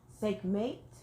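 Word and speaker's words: Sekhmet: the first name of our goddess is SEC sick mate it's spelled s-e-k-h-m-e-t okay and she represents healing what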